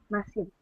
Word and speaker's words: Maciel: Maciel. Maciel. Ah, first syllable stress.